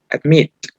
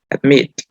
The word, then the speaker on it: admit: También tenemos el verbo admit. Como leímos anteriormente, la mayor fuerza de voz está en la última sílaba, porque esta es la sílaba tónica. Admit.